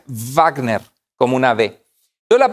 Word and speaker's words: Wagner: dice sabes es de wágner decimos con la w pero en alemán la w se pronuncia wagner como un ave de